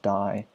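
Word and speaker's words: Dey: It's spelled D-E-Y, but it's pronounced Die somehow.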